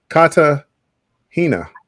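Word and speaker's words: Cartagena: correct you I know K Kata Hina that's how you say it so bill is your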